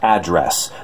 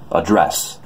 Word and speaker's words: address: sounds weird to you it's address like where someone lives but for some reason being from the Northwest I pronounce it address what's your address its